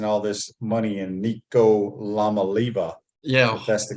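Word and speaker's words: Iamaleava: they're they're investing all this money in Nico La maliba yeah that's the correct way to say it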